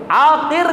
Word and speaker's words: عاقر: آخری حرف ہے را، را کا جب آپ تلفظ کرتے ہیں تو اس کے اندر دو چیز ہیں۔ ایک چیز یہ کہ اس کے اندر تکرار پایا جاتا ہے، تکرار، اس کا تلفظ کرتے ہوئے تکرار ہوتا ہے، را را، اس کے اندر تکرار ہے۔ اور دوسرا اس کے اندر جو ہے وہ یہ کہ اس کے اندر اس کی ادائیگی کرتے ہوئے، اس کا تلفظ کرتے ہوئے منہ کھلا ہوا رہتا ہے، منہ کھلا